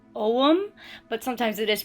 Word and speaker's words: Ogham: some uh it is most of the time pronounced om but sometimes it is pronounced agum so I have half right half wrong um